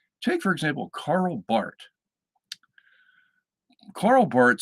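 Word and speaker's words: Barth: look it up and it's spelled b-a-r-t-h that they the H is usually silent in the way people say it so it's Carl Bart anyway Carl Bart was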